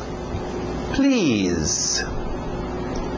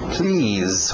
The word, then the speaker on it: please: Please. Please. Som de Z aí no final. Please.